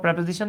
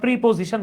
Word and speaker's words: preposition: তো দেখেন, এই যে ইন the world, of this class, beside hour building, শুরু হচ্ছে সব প্রেপোজিশন দিয়ে। দেখেন, আমরা প্রিপোজিশন বলি, রিয়েল প্রোনাউন্সিয়েশন হচ্ছে প্রেপোজিশন।